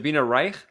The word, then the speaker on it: Zabrina Reich: much for coming on the show is it zabina Reich right I'm pronouncing I'm Persian right right so thanks for